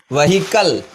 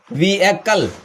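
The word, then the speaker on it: vehicle: Fourth one इज व्हीकल, नॉट व्हीकल। सही उच्चारण है इसका, प्रोनाउंसिएशन है व्हीकल।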